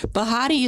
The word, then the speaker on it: Behati: My name is Bahadi Hart. Bahadi is pronounced like Betty, but with a Ha in the middle.